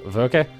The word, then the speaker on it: Werke: Well, with in German, the E would be pronounced, so Werke.